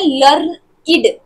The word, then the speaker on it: learned: We pronounce it as learned to rhyme with created, waited. अच्छा, तो यहाँ जो learn, ed, learned है, इसको हम कैसे बोलते हैं, learn id, id.